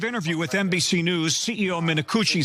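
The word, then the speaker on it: Minicucci: should never have happened Alaska Airlines CEO Ben minakuchi that is his name that is how you pronounce it we did double check is furious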